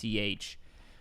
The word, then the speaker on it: Leitch: It's Leitch.